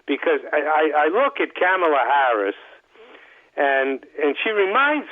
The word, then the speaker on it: Kamala: i believe it's pronounced kamala tamila kamala think of it as like the the the comma you know and punctuation comma kamala the tamil that's